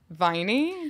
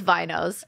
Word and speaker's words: vinyl: just told you that I was a viney do you call them wow a true vinyl over here not knowing how to pronounce it way to Humble me it's off the vine so it's Winos no it's vinyls oh so I said it